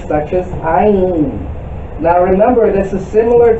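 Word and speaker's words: עין: The letter Ayin, which in English is spelled Ayin, it's pronounced how it is spelled.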